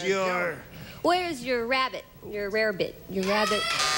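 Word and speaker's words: Welsh rarebit: where's your rabbit your rarebit your rabbit oh well they pronounce a Welsh rabbit but you're right is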